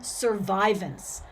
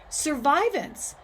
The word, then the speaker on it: survivance: some more fancy technology there's an emphasis on survivance this is a really important word within indigenous studies and it will be important in our class it is spelled s-u-r-v-i-v-a-n-c-e all right survivants is an idea or a word that was